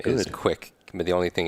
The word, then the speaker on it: Kwik: called quick brain so my last name is quick can be the only thing is people after